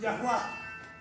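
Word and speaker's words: Yahweh: en estos tiempos a Yahweeh y muchas iglesias dicen Yahwe. Entonces, lo que dicen los expertos en lingüística es que sí se puede pronunciar, pero el nombre correcto es Yahua.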